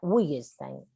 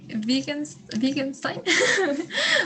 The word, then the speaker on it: Wittgenstein: si fuera inglés, diría Wittgenstein. Wittgenstein. El Willman, ¿no? Walt Whitman, ¿no? Por ejemplo. Whitman. Es diferente la pronunciación de la W en inglés que en alemán. Es como una B.